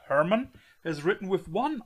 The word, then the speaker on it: Hermann: be church of hermann as a german i have to pronounce it correctly church of hermann are you aware